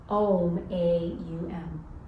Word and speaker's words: Om: His of ishwara designator indicator pronounced a u m is a humming sound.